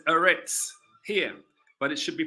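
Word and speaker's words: אֶרֶץ: land another land assarets if we go to the hebrew once again they pronounce it eretz aretz that's how they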